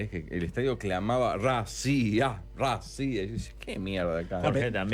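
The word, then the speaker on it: Россия: Mosváb y Rusia se pronuncia racía.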